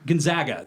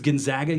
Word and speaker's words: Gonzaga: Yeah, Gonzaga. That's how you pronounce Gonzola. it. Sorry, it's Gonzaga University.